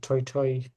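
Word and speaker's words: toetoe: Uh toto we said that this is not even pronounced to it's pronounced toytoy.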